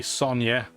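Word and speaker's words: Sonja: So it'd be Sonya. I know there's a J. I'm not going to pronounce it like it's a J, like I would have done as a kid.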